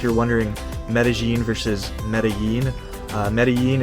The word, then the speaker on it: Medellín: wondering Medellin versus Medellin Medellin is how you would say it in Spanish in Medellin they say